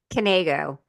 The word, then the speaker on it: Kaneo: Kaneo. Kaneo. I almost didn't pronounce the K in it.